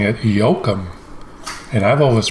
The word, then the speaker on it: Joakim: she was pronouncing it yokum and i've always pronounced it joakim kind of like joaquin phoenix the actor and i know some